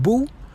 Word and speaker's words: bo: So, as you see, it is a little bit weird that it's bo when it's pronounced boo, even though they write bo, but that's just the way it is in this language.